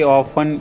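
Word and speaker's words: often: अक्सर जाता हूं आई ऑफ go there I ऑफ go there इसमें टी साइलेंट होता है ऑफ में वह मेरे पास से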